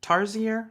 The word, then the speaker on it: Tarsier: Tarsier? Is that how you pronounce that? Anybody want to correct me on that one? Studios? yes, that's perfect pronunciation.